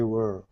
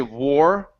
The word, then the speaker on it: were: Does Russians say it like war? Yeah, most of the Russians that I have with that word, they tend to say war because war and were have similar feelings in the mouth.